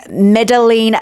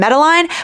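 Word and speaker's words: Madeline: So, she ends up being Medeline Chan rather than Medline, but I will call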